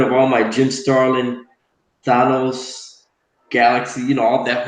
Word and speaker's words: Thanos: Like I keep telling him, it's Thanos. There's no anus in there. It's just Thanos.